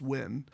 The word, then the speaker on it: Nguyen: Nguyen, I'm not kidding, that actually is pronounced Nguyen.